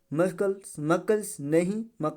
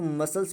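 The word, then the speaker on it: muscles: अब इसको क्या पढ़ेंगे, मकल्स नहीं, सी साइलेंट है तो मसल्स पढ़ा जाएगा, क्या पढ़ा जाएगा, मसल्स पढ़ा जाएगा, ठीक है।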